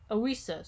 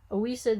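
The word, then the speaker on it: ousia: coming to presence of what comes to presence ausa so this is spelled o-u-s-i-a oisa then can mean both the coming-to-presence of something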